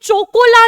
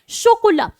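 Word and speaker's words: chocolat: आगे है भाई हम सबकी फेवरेट शोकोला, ला शोकोला। CH आपको पता है फ्रेंच में क्या बन जाता है? CH बन जाता है श, तो ये चोकोला नहीं है, शोकोला।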